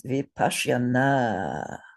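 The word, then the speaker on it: vipaśyanā: It's vipashyana. And three short syllables to start with. Vipashyana. And one long syllable to end with.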